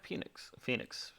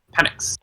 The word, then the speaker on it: Penix: Yeah, and they have Phoenix, too. Penix. Penix. Words are Be hard to cool if pronounce.